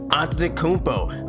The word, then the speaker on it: Antetokounmpo: right I know how to say it yiannis on tokunbo I figure we do one player because doing